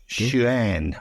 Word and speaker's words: Xuan: And Jerry is a bloke, so look, forgive me, Fred, but I think the Chinese pronounce their X's as sh, so it's Xuan.